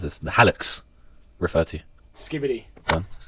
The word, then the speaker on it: hallux: what does, apologies if I mispronounce this, the hallux refer to? Skibbity. Go on. It's a part of your DNA. No. Yeah. The helix.